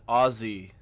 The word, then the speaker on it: Aussie: So afternoon is arvo in Aussie slang. O-Z-Z-I-E. Smornin'. Smornin'. And he used the syllabic N at the end of the word. Okay, whoa. I'm sorry. It's A-U-S-S-I-E, but it's pronounced O.